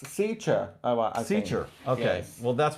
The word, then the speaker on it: Saoirse: It's Sicha. Sicha. Sears? No, it's Sicha. It's SAOIRSE from Jesus, Ireland. Rob, you always get me so prepared for this. You're welcome. Surprises. It's Sicha.